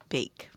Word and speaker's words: bake: an a sound so we're going to put the silent e at the end this silent E changes this from a a to a a b a bake and I'm going to